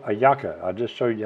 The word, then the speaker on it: hallaca: You can eat them for breakfast, lunch, or dinner, but it's called hallaca. I just showed you how to spell it.